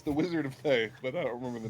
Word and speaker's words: Thay: I thought they were Fae red wizards. Thay. Red Wizards of Almost got- Thay. Almost got taken down in a TPK due to a mispronunciation by my DM.